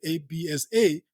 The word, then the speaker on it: Absa: the cipc that's what Absa stands for but they don't pronounce it that way because they wanted Absa Absa to be the identity and does it so so